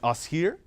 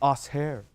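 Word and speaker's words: Assheir: her I'm like yo how do you say that right is it us here she said no it's us hair so naturally I had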